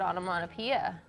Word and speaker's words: onomatopoeia: That's I respect the word onomatopoeia.